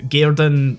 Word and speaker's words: gairden: Gairden, play on, it's a Woman. Scottish pronunciation of garden.